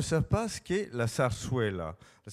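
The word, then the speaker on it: zarzuela: pas ce qu'est la sarsuella la sarsuellaa pour lequel j'aicé un livre donc on peut-être le dire alors ça s'écrit Z Z là ça se prononce sars là et c'est on va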